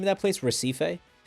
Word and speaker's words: Recife: Recife? Recife, these nuts on your forehead.